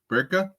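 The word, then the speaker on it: Berke: and how do you say his first name burka burka yeah burka buuk tunel so anyway there's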